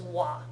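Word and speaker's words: は: this is particle W it spelled with a ha symbol but when it's used as a particle it gets pronounced as W and this particle is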